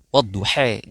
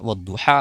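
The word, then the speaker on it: والضحى: yaitu membacanya dengan membunyikan lafaznya tidak fathah tapi apa? E ya tidak bacanya e ya wadduha jadi wadduhe ya seperti itu ya.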